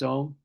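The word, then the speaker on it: Aum: the creative aara aara you auu m is om how it's spelled a u m so the a is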